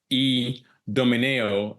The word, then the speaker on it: Idomeneo: to pronounce it obviously with uh my Belgian origin the I is the E so you say it's e Domino and being uh maybe